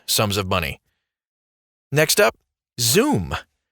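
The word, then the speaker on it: Xoom: of money next up zoom zoom spelled with an X is a PayPal service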